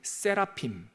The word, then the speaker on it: 세라핌: 스랍들이 많이 모여 있으면 세라핌.